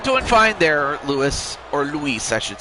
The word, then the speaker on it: Luis: I'm doing fine there, Lewis or Luis, I should say, cuz I have another guy, uh I have another friend also named Well, it's also spelled L U I S, but it's pronounced Lewis.